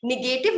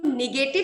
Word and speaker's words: negative: हूँ कि मेरा प्रोनाउंसिएशन निगेटिव नहीं निकले, क्योंकि बचपन से किया ऐसा है मैम कि निगेटिव ही बोला गया है और मैंने बोला है हमेशा. तो निगेटिव से नेगेटिव जो सही प्रोनाउंसिएशन है टाइम लेगा.